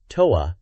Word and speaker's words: Thor: They showcase a couple of fan illustrations and clarify that the game title Thor might have initially been confusing, possibly read as hope, but it is indeed Thor, pronounced Toa in Japanese for the international release.